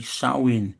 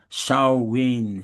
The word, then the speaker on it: Samhain: Of course, it's not the right way to pronounce it, really. Really should be Samhain, Samhain, Samhain.